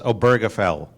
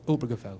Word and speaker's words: Obergefell: being a German teacher it's obergefell okay not really it's not obergefell this stress is on the Oh distressed on the old obergefell when we met last